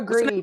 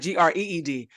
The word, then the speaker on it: Grede: Yeah, Emma Grede is her name. Emma Grede? Yeah. Like money? Like her last name is spelled Grede. Oh, Gred. Okay. I thought you meant like Greed.